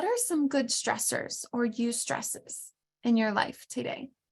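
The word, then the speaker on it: eustress: good thing this type of stress is called use stress and I'll spell it for you e-u-s-t-r-e-s-s-u stress so I'm going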